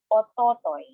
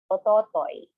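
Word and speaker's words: おととい: So for the day, when you say the day before yesterday, in Japanese, it's ototoi. Again, ototoi.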